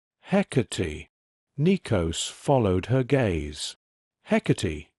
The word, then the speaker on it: Hecate: "Hecate," he said, with the old rough breath on the first syllable.